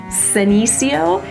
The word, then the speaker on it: Senecio: to want to remember is the words that end in IO or IA, because they're actually going to get the emphasis on the third to last syllable. So you see that here with our senecio and the gasteria.